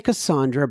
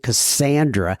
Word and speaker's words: Cassandra: I always say that name wrong. I used to say Cassandra, but now I'm saying Cassandra, and I have to catch myself every time.